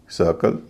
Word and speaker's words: circle: लेकिन अगला consonant are हो तो आई का उच्चारण ई ना होके अ होता है। जैसे BIRD bird, CIRCLE सर्कल, FIRST first, GIRL गर्ल।